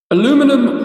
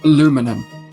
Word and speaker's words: aluminum: Aluminum or aluminium. As most of you will probably know and some of you may well have argued about in the past, Americans pronounce it aluminum.